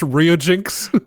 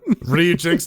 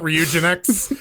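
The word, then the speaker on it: Ryujinx: or i don't know i want to pronounce it like nginx but i'm sure that's not how it's actually pronounced i think that one is very much rio jinx ree jinx not reugen x i don't know um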